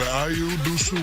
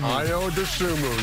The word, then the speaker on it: Ayo Dosunmu: Ayo Dosunmu. Ayo Dosunmu, yes indeed. Ball like this, people learn how to pronounce your name.